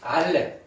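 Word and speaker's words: אלף: 그래서 두 가지 예외는 이제 알렙 알렙하고이 아이언요 두 글자 히브리어에서 두 글자는 묵음입니다. 소리가 없습니다.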